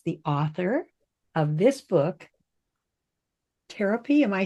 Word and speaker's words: Tarotpy: So today, I have as my guest Lauren Schneider, and Lauren is the author of this book, Tarotpy.